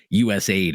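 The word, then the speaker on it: USAID: United States known as us Aid or USA ID I've heard it pronounced both ways I'll just say us aid but there's been some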